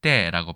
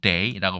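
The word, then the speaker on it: 茶: 이쪽 산지에서 물건을 싣고 암스테르담까지 왔을 테니까 여기에서 발음을 때라고 발음 혹은 day라고 발음했기 때문에 이 day가 유럽까지 전파돼서 지금의 t가 되었다라는 이야기입니다.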